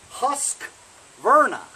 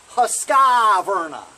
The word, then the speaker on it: Husqvarna: wrong you know it's husk Virna not Husqvarna there's no I in between the Q and the V you know what I